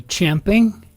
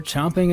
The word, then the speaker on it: champing: So maybe Munch, which would be champing. Like champing at the bit, you know, the original correct way to say it. Though I mean, as a descriptive linguist, as a descriptive linguist, yeah, usage is usage. If we're chomping at the bit, we're chomping at the bit.